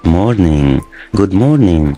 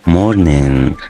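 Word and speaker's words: morning: جود مورنينج. وهنا برضو اخر صوت معايا في الكلمه دي صوت الان، فبقول جود مورنينج، ما بنطقش الجي.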